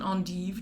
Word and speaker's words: endive: is the belgian endive belgian and eve depending on how you want to pronounce that it is like i've